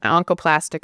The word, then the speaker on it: oncoplastic: Which is that on the last how do you pronounce that? Oncoplastic surgery which is what we're known for.